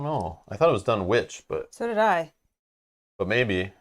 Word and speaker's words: Dunwich: play yeah she is dunich as in Greenwich Village pronounced grenwich yes I don't know I thought it was done witch but so it but